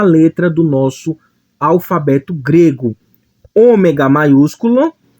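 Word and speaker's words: ὠμέγα: Ômega grego Ômega português representa o ó só que um o com a11 acima para diferenciar do homem então esse ou aqui vai ter um som mais fechado o homem cronson mais aberto Então observa que esse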